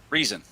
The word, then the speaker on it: Riesen: Is that Ryzen or Reason? Reason.